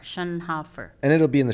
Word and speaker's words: Schoenhofer: Jill Shunhoffer.